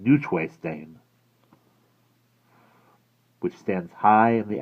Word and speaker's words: Neuschwanstein: Neuschwanstein, which is the correct way to pronounce it, was his grandest.